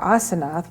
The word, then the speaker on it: Asenath: 300 years and she ath or asenath which is the the uh I guess correct uh pronunciation if it's not anglicized was married to Joseph